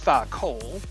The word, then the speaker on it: tha-kol: It's a single word, tha-kol, but it is actually done in two syllables. Tha, so you can see the th and the a, so tha, and then kol, with the K sound here, and then the long O and an L, and I'll show you how that works.